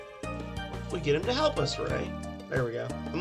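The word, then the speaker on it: Rei: Some people say Rye. I say Ray.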